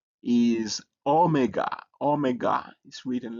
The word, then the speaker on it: omega: the last letter is omega. Omega is written like this and the capital is written like this but it's a O sound like O. or a long o like o in tone.